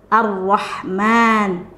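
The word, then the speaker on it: الرحمن: mad di huruf mim-nya Arrahman ingat kalau umat seperti ini dibacanya dua harokat tidak lebih ya kesalahan orang pada umumnya seperti membaca kesalahan orang pada umumnya dibaca seperti ini ar-rahmannirrohim Nah itu lebih dari satu ketukan atau lebih dari 2 harokat yang benar Seperti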